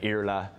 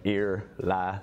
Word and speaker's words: Iarfhlaith: Usually because there's a silent FH, people go for Iarfhlaith. That's my parents' fault. So I think people in Ireland call me Iarfhlaith as well. But the correct pronunciation is like Irla. So I usually like ear, la, that usually gets it.